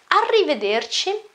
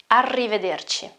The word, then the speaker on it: arrivederci: okay bye more common arrivederci contains a lot of pronunciation rules first of all you have a double consonant okay and that consonant is an R well the our sound